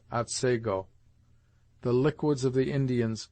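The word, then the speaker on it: Otsego: as they are pronounced thus the scene of this tale is spelt atsigo and is properly pronounced at sago the liquids of the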